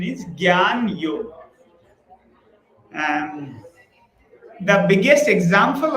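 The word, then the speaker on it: jnana: So here like some spelling I see janana yoga people read. So it's a sana or basically the correct pronunciation is gan yoga.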